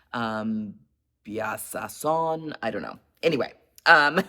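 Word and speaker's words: Bijasson: SS o n and I know the J is not pronounced um bason I don't know anyway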